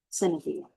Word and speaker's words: sine die: Sine die.